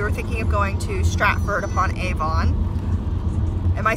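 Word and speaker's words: Stratford-upon-Avon: We were thinking of going to Stratford upon Avon. Am I saying that funny? Stratford upon Avon.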